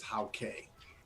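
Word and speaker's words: Hauke: So how K is how you pronounce his name. He says, "Thanks for trying. My name is from Northern Germany. Is How K."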